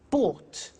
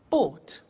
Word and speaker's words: bought: Buy, bought. You notice that O-U-G-H-T is pronounced ought. Buy, bought.